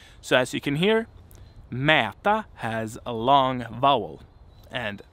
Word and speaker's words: mäta: a long syllable, but either the consonant is short and the vowel is long, or the vowel is short and the consonant is long. And I have an example here to so that you can hear what this is about. So we have, for instance, mäta, which means to measure, mäta.